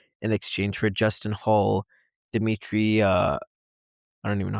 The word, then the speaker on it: Dmitri: Dimmitri uh I don't even know how to say this name. Dmitri Belle Belikov.